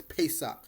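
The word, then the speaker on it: Pesach: we're talking all about Passover or pesak some might pronounce as pesak Passover let's get right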